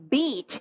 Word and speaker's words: beach: 절대 짧게 하시면 안 돼요. 길게 하셔야 돼요. beach, 해변이에요. 이건 만약에 짧게 하시면은요, 안 좋은 단어가 됩니다. 여자한테 할 수 있는 최악의 욕이 돼버려요.